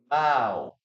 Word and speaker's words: bow: other meaning so remember it has two ways of pronouncing it okay two pronunciations number one bow bow like this bow down